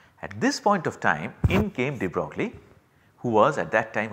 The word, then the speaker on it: de Broglie: Well, the correct pronunciation is apparently de Broglie, but then I am not good at pronouncing European names, I will just say de Broglie.